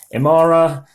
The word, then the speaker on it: Emara: marui you never know how people who should pronounce these things but apparently it is Amara and I say it was probably the euro